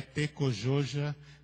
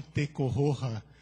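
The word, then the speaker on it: Tekojoja: O Sisto me explicou há pouco que a pronúncia certa é Tecojoja, como nós leríamos em português, e não Tecorroja, como leríamos em espanhol. Porque a palavra, na verdade, é Guarani.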